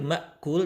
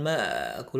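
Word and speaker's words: مأكول: hidung dua ketukan dan terakhir Mbak cool jangan bakul kesalahan Sukajadi bakul bukan bakul tapi Mbak cool PKS kelima saja Allah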